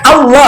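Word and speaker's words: الله: Karena dia berasal dari huruf dari bahasa Arab maka dibaca Allah.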